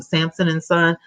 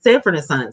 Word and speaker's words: Sanford and Son: And remember, Red Fox was always like, when he was Samson and Son. Am I saying it right? It is Sanford and Son.